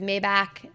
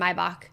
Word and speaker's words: Maybach: Honestly, people pronounce it differently. There is Maybach and Maybach. It's either one.